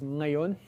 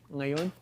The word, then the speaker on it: ngayon: So Tagalog, for example, the word for now, like right now, is ngayon, ngayon. So it starts with a velar nasal.